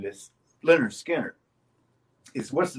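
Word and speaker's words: Lynyrd Skynyrd: he was looking at leonard skinner pronounced leonard skinner okay so uh during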